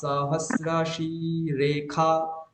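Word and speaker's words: সহস্রশীর্ষা: শি রেখা, সহস্রাশি রেখা। খা কেন বলছি, ক্ষয়াকার কেন বলছি, ওখানে তো মূর্ধন্য ষয়াকার আছে, তখন এই কারণে যে ওখানে মূর্ধন্য ষয়ের উচ্চারণ হয় খকার।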